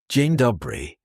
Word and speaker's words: dzień dobry: Dzień dobry. Good. Now comes the most important part. Your name. In Polish you say jestem, pronounced jestem.